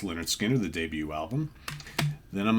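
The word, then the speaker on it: Lynyrd Skynyrd: uh three favorite albums are of course pronounced Leonard Skinner the debut album then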